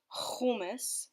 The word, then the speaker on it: hummus: story for me I was obsessed it's actually pronounced hummus with that little rapine s in your voice